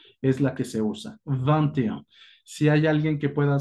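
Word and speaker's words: vingt et un: Pongo el et, no se pronuncia et, se pronuncia e nada más, y posteriormente le agrego la unidad, que en este caso es 1.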